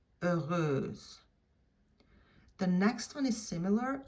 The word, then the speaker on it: heureuse: Heureux, heureuse. Heureux, heureuse. So that H is not pronounced at all.